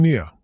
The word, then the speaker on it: Nia: And I'm Nia. Like nice to meet ya.